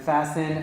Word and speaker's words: fasten: of course fastened and fastened of course is what you could do with the seat belt you would fasten the seat belt and we do not pronounce the T we say fasten it looks the same